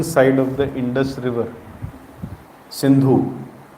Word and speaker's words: Sindhu: of the Indus River synu they used to mispronounce the word synu as Hindu and they used to